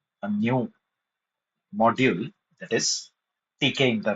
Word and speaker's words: Tkinter: In today's session, we are going to start with a new module that is TK inter library. You can spell it as tinder. Actually, it is TK inter It's a inbuilt library.